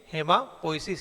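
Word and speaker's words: hematopoiesis: ठीक है, यहाँ टी साइलेंट रहेगा, हेमाटोपोइसिस लिखा हुआ है, लेकिन हेमापोइसिस इसको हम लोग पढ़ेंगे।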